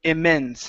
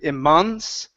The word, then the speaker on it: immense: Okay, and the other one for you is immense. Instead of immense, with an ah sound here, it's immense.